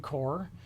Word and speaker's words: Corps: When I say the word core here, people sometimes spell it C-O-R-E, as in the center. But that's not what we're talking about. We're talking about the Marine Corps, which is actually the body. It's C-O-R-P-S.